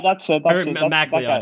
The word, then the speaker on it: MacLeod: MacLeod is actually how you pronounce it.